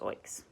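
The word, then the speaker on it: OEICs: unit trusts and oigs open-ended investment companies pronounce oaks some people prefer to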